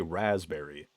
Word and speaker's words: raspberry: The way it's spelled like raspberry? Because you always just say raspberry.